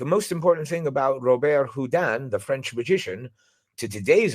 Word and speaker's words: Houdin: There would be no Harry Houdini, world's most famous magician, without Robert Houdin. Again, I'm pronouncing it the French way, Houdin, but it's spelled Houdin.